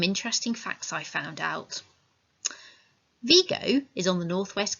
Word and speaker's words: Vigo: you know in spain they don't pronounce it vigo they pronounce it vigo so do you actually know anything about vigo